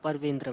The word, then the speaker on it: Parvendra: So Parvendra, right? That's how you say it. Yeah, Parvendra, ma'am.